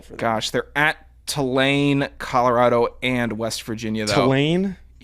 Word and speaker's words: Tulane: Tulane. You can hear that? You said Tulane. Tulane. Tulane. T-O-O. This is what the phonetic spelling is T-O-O-L-A-Y-N. Tulane. I'm Say it. pronouncing it. Tulane. Two. Not ta.